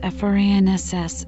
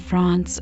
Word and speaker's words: France: In English, France is pronounced FRANSS in American English and France or FRANSS in British English.